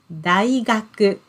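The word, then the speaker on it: 大学: is big learn it means university yes university daigaku okay so that's the um what we say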